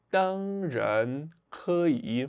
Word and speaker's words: 当然可以: E aí, abrindo um parênteses aqui, focar nessa pronúncia do R, porque o R em mandarim, ele tem uma pronúncia bem diferente do português. Se fosse no português, a gente fala dan, han, dan, ran, enfim, qualquer outra coisa que não fosse dan, jan, dan, jan.